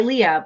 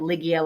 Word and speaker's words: Ligia: told just go by Leah, but they never changed my spelling. So I get Ligia, Ligiga, Luigi, all sorts of variations of that. So I just say my name is Leah, spelled Ligia.